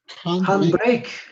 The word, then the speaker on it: handbrake: Handbrake. El handbrake. ¿Qué dice? Handbrake. Freno de mano. Handbrake. Tiene este, como J se pronuncia esta H, ¿no?